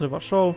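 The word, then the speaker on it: Revachol: okay let's go here never show it's pronounced reverse show yeah we already know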